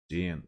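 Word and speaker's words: Díon: How to pronounce this? Dion.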